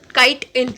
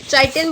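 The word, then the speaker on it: chitin: ऊपर पूछ लेते हैं, काइटिन, चाइटिन बोलते हैं ना कई सारे बच्चों वो काइटिन होता है, चाइटिन नहीं होता। ठीक है, काइटिन, मैंने फंजाई वाली वीडियो बताई थी ना, जब स्पेशल प्रोनाउंसिएशन मैंने वहाँ पर लिखा भी था KITE-IN प्रोनाउंसिएशन थी वो।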